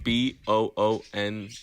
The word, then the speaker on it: Boone: It's called Boone, I think. Oh, It's spelled BOONE, like bone, but double O. Oh shit. So I think it's like Boone.